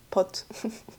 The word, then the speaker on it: pot: But I wouldn't say like if I had to buy a whole full jar pot because in French it's po P O T.